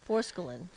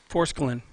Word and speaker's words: forskolin: a there's a k in there we need pronunciations forskolin forskolin yeah it helps to suppress your appetite and